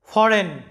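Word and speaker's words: foreign: Silent আছে দেখো ফরেন ফরেন এখানে লক্ষ্য করো জি এর উচ্চারণটা সাইলেন্ট আছে ফরেন মানে হচ্ছে বিদেশি এরপরে দেখো ন্যাশ লক্ষ্য করো ন্যাশ এই শব্দটা এই শব্দটার মধ্যে কয়টা সিলেবল আছে?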